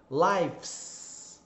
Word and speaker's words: lives: Quando a palavra termina com F ou FE, o som é o mesmo do F, porque o E é mudo no final. Então, termina com F. Se você for colocar o S, né, for colocar no plural, normalmente o som vai para o VS.